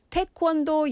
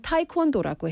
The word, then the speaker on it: 태권도: 외국 사람들이 태권도 얘기를 안 하고 우리는 타이콘도라고 해요. 타이콘도는 왜 하는지 모르지만 태권도 아니에요.